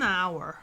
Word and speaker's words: hour: 단어죠네 엄청 중요한 단어 근데 스펠링은 자음이 시간 얘기할 때이가 소리가 안나요 그 첫 번째 소리가 뭐냐면 아 이렇게 소리나요 그러면 이때는 on hour 이렇게 연결됩니다 on hour 어 첫 번째 소리가 아 소리 났잖아 MP3 할 때도 m